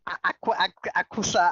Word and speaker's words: Aqsa: Alaska, aqsa. I don't know how they pronounce this thing.